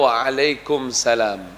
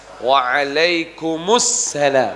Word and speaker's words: waalaikumussalam: Sebagian orang masih menjawab dengan "waalaikumsalam" . Seharusnya “waalaikumussalam”. Jika yang diucapkan adalah "waalaikumsalam", itu tidak benar ; seharusnya "waalaikumussalam". Jadi salam tersebut adalah kata benda pasti, ada alif lam di sana.